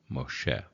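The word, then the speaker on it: משה: is Moses but but it's the vowel o because it's in that position but it's also the doggish for the shin so Mo Moshe okay zot ha to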